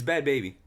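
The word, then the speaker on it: Bhad Bhabie: yeah it's bad Barbie it's bad baby it's spelled it's it's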